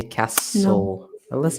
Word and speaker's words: castle: say the T okay castle in British would you say the Timor no not also the team always always Castle exactly and then G